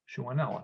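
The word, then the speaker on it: Shewanella: bacteria whose genus is shuwanala shuanala shuanella shuanella that's how you pronounce it i'm not familiar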